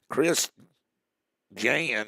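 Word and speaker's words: Chris Jans: 63 up there at Lake Martin that's good Chris Jan that's how you pronounced his name was born on April the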